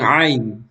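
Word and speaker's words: ع: So, tandaan nyo palagi, ang ain mga kapatid ay dito po sa ating gitna ng lalamunan binibigkas. Okay? Kumbaga yung pag binibigkas natin ito ay mararamdaman mo talaga na parang itong lalamunan mo ay hinihigpitan mo siya. Ain, ain. Okay? Ain, ain. Na parang hinihigpitan mo siya na binubuka mo.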